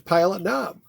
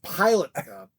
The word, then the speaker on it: Pilot Knob: So I put the emphasis on the knob.